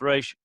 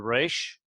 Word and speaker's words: Resh: It's the Resh. Resh, it often behaves like a guttural, and we'll talk about how they all behave. Historically, they're pronounced in the back of the throat.